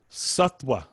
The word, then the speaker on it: sattva: as in victory so satwa so just just think of it as a w make it simple so again it's h